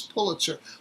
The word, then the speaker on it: Pulitzer: There actually is a correct way to pronounce the name, and the correct way to pronounce the name is Pulitzer.